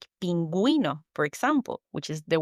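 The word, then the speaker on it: pingüino: So the best example, friends, to remember is the word penguino. Exactly. Just remember the little cute penguin needs you to pronounce the U.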